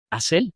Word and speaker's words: Asel: Asel, así se pronuncia.